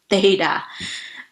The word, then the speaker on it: theta: how to pronounce it before your tongue had to go in between the teeth and say theta put in this data